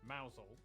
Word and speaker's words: Mousehole: over to rampusham ransom then down to mousehole mausol next travel north up to tower sester toaster